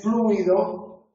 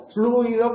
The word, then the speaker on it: fluido: Excepto en los casos de fluido, donde podemos pronunciar como queramos. Podemos pronunciar fluido, que sería la pronunciación etimológica, o podemos pronunciar fluido.